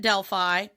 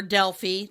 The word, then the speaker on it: Delphi: temple of apollo at delphi or delphi depending on how you want to pronounce it um on which